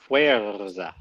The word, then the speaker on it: Fuerza: Well, Just roll the R. Fuerza.